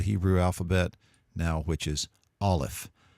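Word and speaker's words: aleph: now which is olive olive is a silent letter the closest thing to a pronunciation you might do with an olive is to come to maybe a full stop if it's in the middle of a word a quick but full stop or maybe a sound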